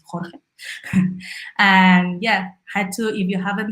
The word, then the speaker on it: Jorge: It's I don't know where you're from, but at least in Spain it's Jorge. So for everyone who doesn't know how to pronounce his name, it's Jorge.